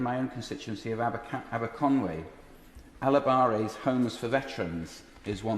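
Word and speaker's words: Alabaré: I pronounce it Alabare because I had this out with them last week.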